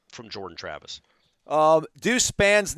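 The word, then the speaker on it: Spann: be spam yeah well who looks at s p a n n and thinks spawn like spawn I don't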